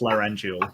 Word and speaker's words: laryngeal: I've been saying it wrong no no it's laryngeal it's definitely laurential um that's that's okay we